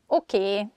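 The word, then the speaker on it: oké: Okay. Okay. This word comes from English. Probably it's easier for Hungarian speakers to pronounce it that way, so we just say a sound E at the end, so it sounds okay instead of okay.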